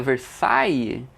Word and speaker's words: Versailles: o nome né o aqui a pronúncia versay só que ninguém ninguém fala ver sai né galera todo mundo